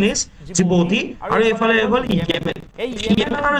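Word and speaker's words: Djibouti: country আছে this is call জিবতি জিবতি but pronunciation is জিবতি R Yemen এই Yemen আর জিবতির মাঝে জন্তু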